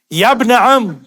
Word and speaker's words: یا ابن عم: اب یہاں پر دیکھیں گے یا ابن عم، یا ابن عم، کیونکہ یہ جو الف ہے یہ گر جاتا ہے عند النطق. یا ابن عم، اے چچیرے بھائی، اسمع